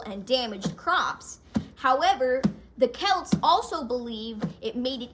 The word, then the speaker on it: Celt: interestingly Halloween traces back to the ancient Celts celt can also be pronounced as cell by the way but celt is the standard